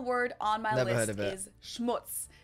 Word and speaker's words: Schmutz: on my list is Schmutz this one is pronounced and used the same way in both languages it's much like a